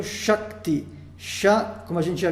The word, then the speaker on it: Shakti: Então, Sha vai ser um A curto, porém seguido de K e T, duas consoantes. Isso torna a sílaba Sha longa.